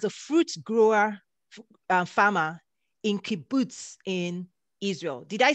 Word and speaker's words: kibbutz: fruit grower farmer in kibbutz in israel did i say that can you teach me how do you say boots kibbutz exactly you said it right okay there he realized